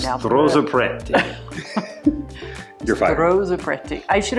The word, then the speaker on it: Strozzapreti: Strozzapreti. You're fine. Strozzapreti. I should have warmed up. You didn't tell me. I'm not warmed up. So again, it's my fault. Strozzapreti. Yeah, do the roll R's.